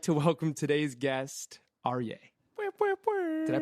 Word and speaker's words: Aryay: lion, and I'd like to welcome today's guest, Aryay. Did I pronounce that right?